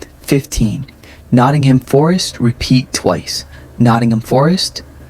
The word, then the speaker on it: Nottingham Forest: Nottingham Forest. Nottingham Forest. Reduce ham to aim. Stress first syllables.